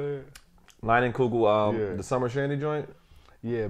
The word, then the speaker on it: Leinenkugel: Leinenkugel.